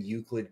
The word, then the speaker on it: Euclid: And to me, what it is that Rain and Euclid go, that's even how you pronounce it, go hand in hand.